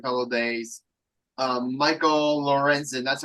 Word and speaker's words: Lorenzen: talking for a couple of days um Michael Lorenzen that's how I pronounce his name correct uh yeah correct Michael